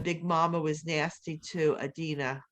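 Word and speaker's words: Adunni: The other people in the town, when Big Mama was nasty to Adina, that's how you say her name, they accepted it, and that was fine because that's what they were used to.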